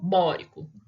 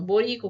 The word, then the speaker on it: bórico: moro mais rico bórico tem gente que a hora que vai adicionar o ico né não sabe onde está a sílaba tônica então acaba falando boiko carbônico nítrico ou sulfúrico sulfúrico e clorídrico não tem nada de seu furico tá chama o ácido